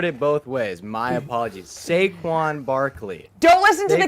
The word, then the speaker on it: Saquon: especially in basketball but the value at getting sequan in the second round I am I'm a